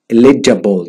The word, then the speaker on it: eligible: اليجيبل، eligible تسمعها كده، هنا الجيم ما يجي بعد منها اي او اي تنطق جا.